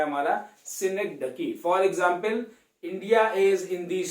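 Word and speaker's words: synecdoche: I don't know इसको अलग अलग नाम से लोग प्रोनाउंस क्यों करते हैं, कोई सिनोची बोलता है, कोई कुछ बोलता है। सिंपल है, सिनेक्डकी। सिनेक्डकी का मतलब क्या होता है?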